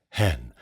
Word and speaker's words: heaven: And note, of course, that heaven is pronounced with one syllable here. Hen, though hen knows it is but as a tomb.